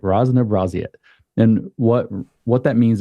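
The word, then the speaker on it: разнообразие: I'm trying to learn how to say it rzn braet is how you actually say that okay I got that right Ros braet and what what that means is diversity what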